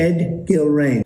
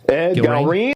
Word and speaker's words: Ed Gallrein: Ed Gallrein. Ed Gallrein.